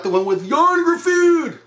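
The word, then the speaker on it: Ioan Gruffudd: No, not the one with Yon Gruffudd, which is the only proper way to pronounce his name.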